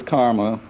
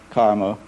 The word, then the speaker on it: CCRMA: and music and acoustics referred to as karma ccrma and pronounced by us karma and it's indeed been